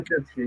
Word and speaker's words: Jabotinsky: Am I pronouncing it wrong? Jabotinsky, yeah.